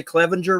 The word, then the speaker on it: Clevenger: Did I say Clevenger right? Am I saying it right? Yes, you did.